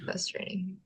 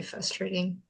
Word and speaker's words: frustrating: say but you know they're saying it because they think the word is because they think it's actually fuss yeah fustrating I find it very frustrating yeah uh have you